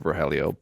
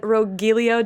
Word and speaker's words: Rogelio: Jaime played the beloved character of Rogelio.